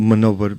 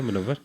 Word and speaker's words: Munawar: Yeah, man over. Munawar. So we put a really nice poster. 2 minutes later, Munawar messaged me. Fantastic poster, but you've spelt my name wrong. What? It's Manover, Manover.